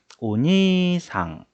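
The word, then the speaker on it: おにいさん: 오니이상이라고 적혀 있는데 실제 발음은 니이라고 하지 않고 오니상, 니를 두 박자로 끌어줘요.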